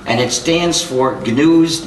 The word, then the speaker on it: GNU: for countless wordplays because according to the dictionary the g is silent and it's pronounced new so every time you